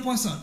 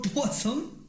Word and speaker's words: Poisson: Se escribe Poisson con doble S, pero se pronuncia Poisson. A ver, repite conmigo, Poisson.